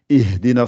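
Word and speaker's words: اهدنا: Donc là, la Hamzatul Wasl, vous êtes obligé de la prononcer puisque vous commencez par cette lettre-là. Donc c'est pour ça que vous dites Ihdina siratal I.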